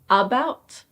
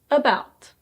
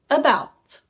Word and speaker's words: about: In these words there is an A which is pronounced as a schwa. about It's not "AHbout". It's: about. Say it after me: about.